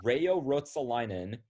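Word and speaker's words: Reijo Ruotsalainen: part of the first name right so it's rayo rotsolinan and the only reason i know who this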